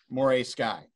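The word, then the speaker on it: Morei Sky: And how do you pronounce? Is it Moray or Morai? Moray Sky.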